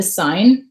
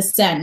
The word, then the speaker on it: Seine: I pronounced it the Seine. Whoopsies, I maybe should have looked that up before I started teaching junior high kids. And then when we got to Paris, everyone was pronouncing it the Seine, like S-E-N.